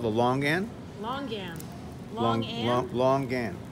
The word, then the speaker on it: longan: this is called the longan long gam long long game l-o-n-g l-o-n-g what do you pronounce the g yeah l-o-n-g and we